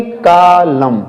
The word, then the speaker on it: column: उसके पहले यम हो, तो एन को हम क्या करेंगे, साइलेंट बनाएंगे, उसका हम यूज नहीं करेंगे प्रोनाउंसिएट करते समय। तो इसे क्या पढ़ेंगे, कालम, कालम, क्या पढ़ेंगे इसको, कालम, दिमाग में रखें, क्या पढ़ेंगे, कालम, यानी कि एन को हम क्या कर लेंगे, साइलेंट कर लेंगे।